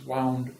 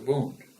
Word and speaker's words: wound: terminology, the bandage is wound around the wound. Okay, now that's a fiction sentence. Wound and wound are spelled the same way.